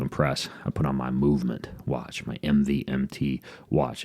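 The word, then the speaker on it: MVMT: a company called movement it's spelled MV MT but pronounced movement and what they do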